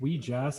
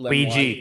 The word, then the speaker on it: Ouija: Doesn't We Jazz have an affinity for dark opals of this kind, or is my religion class failing me?